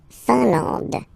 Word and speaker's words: Finlande: La Finlande, I-N here, nasal, A-N, nasal, en, and then D, final E, not pronounced. La Finlande, okay?